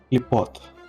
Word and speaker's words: Клепот: Клепот. Ударение сюда падает.